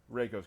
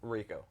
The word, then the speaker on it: Reiko: yeah we're gonna show you some characters today reiko's coming Raco race did I say it right now I